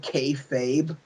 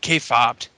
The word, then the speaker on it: kayfabe: And then did Joseph Park actually say the word kayfabe? No, he said K-fobbed. Okay, I that was swear to pronounced it.